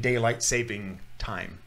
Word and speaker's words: daylight saving time: Well, the first thing I want to say is there's no S in daylight saving time. Yep. Yeah, I just found that out. I always assumed that it was daylight savings time. Yeah, you say it wrong.